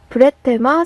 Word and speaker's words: Bretema: 그러니까 발음 은 ... 브레마 입니다 . 브레테마 라고 읽힙니다 .